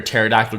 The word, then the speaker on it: pterodactyl: Why can't you hear a pterodactyl going to the bathroom? It's because the P is silent.